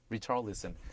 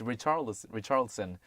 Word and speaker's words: Richarlison: Neymar then scored a penalty goal in the 13th minute following midfielder Jung Woo-young's foul on Richarlison. In American pronunciation, it's Richarlison, but in 이게 그 브라질 쪽에서는 히샤리송으로 발음하던데요.